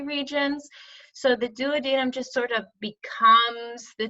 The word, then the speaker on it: duodenum: is going to be the duodenum, or sometimes people say duodenum. I think that's more common. I prefer the word duodenum because that's how I pronounce it.